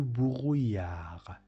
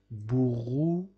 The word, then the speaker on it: brouillard: Il y a du brouillard. D is not pronounced at the end of the word, as you already know from the previous videos. Brouillard.